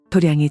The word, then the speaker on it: 도량: 사는 곳이 다 도량이 마당 장자를 쓰면서도 도량이라고 읽습니다 도량이 청정해 때와 먼지가 없다면